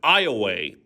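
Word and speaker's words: Ioway: The Iowa River, which defines much of east central Iowa, was named after the Iway. Yes, it's pronounced Iway Indian tribe.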